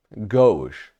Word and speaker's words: gauche: If you were unsure how to pronounce that word, gauche. Gauche is the word. Not to be mistaken with gouache. Gouache, which is a type of like paint.